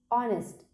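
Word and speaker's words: honest: और एच ओ एन ई एस T spelling है, एच ओ एन ई एस टी. ऑनेस्ट. ऑनेस्ट में क्या होता है, आ साउंड से आप उसको बुलाते हैं ना.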